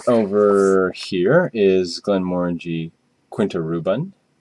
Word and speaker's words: Quinta Ruban: here is Glenn Mori Quinta rubben or Kint Ruben as I believe it's it's pronounced and that's there we